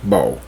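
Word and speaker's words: Boho: It's spelled B-O-H-O, but it's pronounced Bow.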